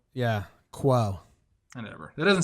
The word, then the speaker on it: Cuomo: You kind of offended my heritage with the way you pronounce that, to be completely honest with you. How do I say it? Cuomo. Yeah. Quo.